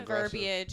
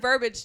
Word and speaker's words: verbiage: It sounds the verbiage is it's tough. Verbiage.